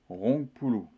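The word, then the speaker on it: rongpuluh: Donc ça s'écrit R-O-A-P-O-L-O. Roupol. En javanais, 20, eh bien, ça se dit Rongpulu.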